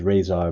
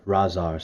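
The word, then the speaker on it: Rahzar: I know some people say it's Razor, but when I was a kid, I've always remember hearing like Shredder pronouncing it Razar, so that's how I kind of pronounce it.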